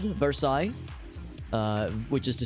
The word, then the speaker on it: Versailles: So, for instance, there is a town that is spelled Versailles, which is to say Versailles.